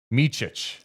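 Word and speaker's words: Micić: do have an update too uh the proper prononciation according to the Hornets game notes Vasa meich Vasa Vasa meich so meich Vasa meic along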